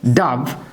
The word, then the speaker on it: dove: ডাভ মানে আমরা ঘুঘু পাখি, এক ধরনের পাখি, উচ্চারণ হচ্ছে ডাভ।